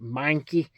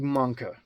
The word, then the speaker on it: Mahnke: Now, I usually say Doug Mahnke, like the Pokemon Mankey. But I'm going to try to sound intelligent here and lose the Alabama accent. Mankey. Doug Mankey. Doug Mahnke. That's how I will pronounce it today.